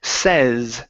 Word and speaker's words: says: So, starting off with the word says. This is going to be a short e sound instead of he says, he say, he says.